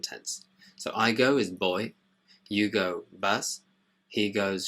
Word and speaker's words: voy: Remember the V in Spanish is pronounced like a B, so it's not voy and van, it's boy and van.